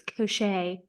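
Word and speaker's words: Koschei: me again with the Koshi lore how we went over all of that I know it's not actually pronounced Koshi it's koset I'm not saying Kosh oh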